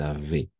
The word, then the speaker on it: avaient: ENT, muet, es mudo, ENT. Siempre va a ser así. Siempre que sea un verbo, d'accord? Toujours. Toujours avait, n'est-ce pas? Oui, avait. ENT, on ne prononce pas.